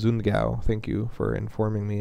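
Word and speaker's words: Sundgau: I would call it Sungayu because that's how it's spelled, but apparently it's Zungao.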